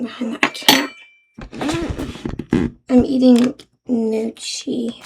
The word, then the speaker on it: gnocchi: I'm eating gnocchi. I think that's how you pronounce it. There's like a silent G in front of it.